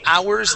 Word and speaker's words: hours: try that here now the word hours okay this H is silent as well so we're going to say hours that evening so practice removing that H sound hours that evening try